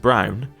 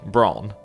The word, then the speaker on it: Braun: Now, I believe this is pronounced Brown.